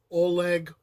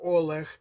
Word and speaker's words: Oleg: so I did a previous video on Oleg or Oleg and you're going to have to put up with me going through and dealing with the different pronunciations because Oleg would be more of a Russian pronunciation would be more Ukrainian all right and um